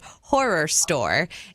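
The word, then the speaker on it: Horrorstör: And one of the ones that she mentioned is called Horror Store, and it's spelled HORRORSTO with an umlaut R. So Horror Store.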